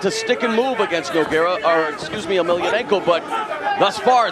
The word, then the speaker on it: Emelianenko: Emelianenko, yeah, that's the way you pronounce it.